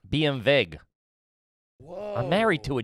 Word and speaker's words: BMW: It's pronounced BMW. BMV.